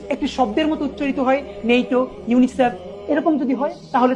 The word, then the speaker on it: NATO: আর এখান থেকে মনে রাখবো, যেমন পড়ছি নেইটো, আমি কিন্তু পড়ছি না NATO, এরকম কিন্তু পড়ছি না, আমি একটি শব্দের মতো পড়ছি নেইটো।